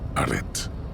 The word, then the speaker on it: arrêt: Okay, you don't pronounce the T in arrêt, by the way.